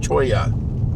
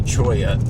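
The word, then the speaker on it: cholla: And a a cactus called Choya. C H O L L A. Choya. L L is pronounced like a Y in Spanish.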